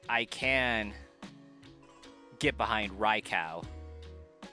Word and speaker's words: Raikou: Because in a lot of languages the U after O makes an extended U sound instead of a ow. But like I can get behind Raikou.